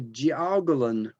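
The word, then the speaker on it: jiaogulan: immortality herb in china and that is the jiagolin herb and i know you don't speak chinese so i'm going to spell that one for you that is j i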